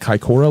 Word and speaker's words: Kaikoura: okay uh you guys ever hear about the Kora lights the Kora lights uh is the name